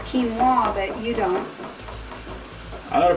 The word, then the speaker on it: quinoa: pronounce before early well i know how to pronounce quinoa but you don't i know pronounced for noah too look if you wanted to be sp